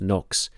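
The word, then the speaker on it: Cnocs: It's actually spelled C-N-O-C-S, Knox, but it's pronounced Nox.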